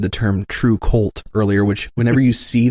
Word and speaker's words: kvlt: and there's I jokingly said the term true cult earlier which whenever you see that that which